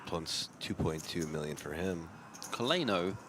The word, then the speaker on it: Coleno: Coleno is actually pronounced like co le no. Coleno.